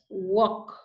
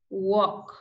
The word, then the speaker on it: walk: time Amand salmon have walk talk would okay so remember these are silent L words you don't pronounce the letter L like this we have